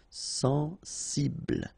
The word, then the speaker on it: sensible: Okay, final E not pronounced. Bl will be the last sound. Sensible.